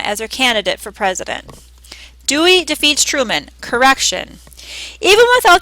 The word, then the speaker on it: Dewey: He dismissed Dewey, whose name, he said, rhymes with hooey. Dewey hooey.